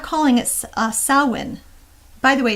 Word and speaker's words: Samhain: not calling it uh salwyn by the way it's not samhain though those are um uh pronounced with a w but um so why